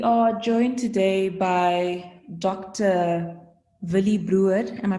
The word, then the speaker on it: Willie Bruwer: Villy Brewer. Am I pronouncing it correctly, doctor?